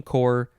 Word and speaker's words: corps: establishment as in marine corps and also signal core and i know this word confuses a lot of people because there's two letters at the end that are silent why would they do